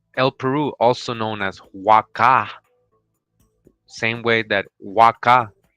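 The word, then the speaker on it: Waka': from Guatemala says El Peru also known as Waka same way that Waka right in Peru with the H but it's pronounced Waka w-a-k-a just like the site so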